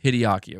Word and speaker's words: Hideaki: It's Hideaki.